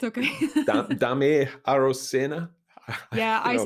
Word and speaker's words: Daymé Arocena: Daymé Arocena? Yeah, you I know, say Daimé Arocena.